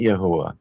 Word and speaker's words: Yahweh: child of Jehovah these Yahweh is actually the most correct pronunciation that we can get to the tetr gramon